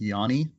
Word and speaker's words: Giannis: my Greek friend that the way you pronounce his name is Yanni did not know that